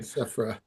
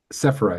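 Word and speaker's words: Sephera: I got um you know um Sephro Giron whose name I can never correctly pronounce, right? Sephra. Sephra.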